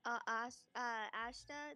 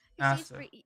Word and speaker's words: Asta: So like if Natasha, what about Ashta? Is that how you say her name? Asta.